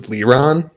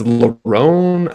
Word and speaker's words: Lerone: And they always want to throw me for a loop with names because forever I was thinking it was Leron or something like that, but it's Lerone.